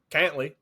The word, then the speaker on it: Cantlay: I did the same thing, and then I was watching it last year, and they were like, Cantley. And I was like, oh, okay. Cool. Yeah, but it's pronounced a little bit different.